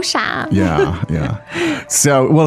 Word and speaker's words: 傻: 你好傻，你好傻， So the word 傻 meaning third tone, right?